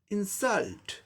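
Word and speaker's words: insult: Stress mark second syllable पर आ जाएगा, तब इसका उच्चारण क्या हो जाएगा? इंसल्ट, इंसल्ट, इंसल्ट, दूसरे सिलेबल पर जोर देना, इंसल्ट, इंसल्ट, इंसल्ट, वर्ब की तरह।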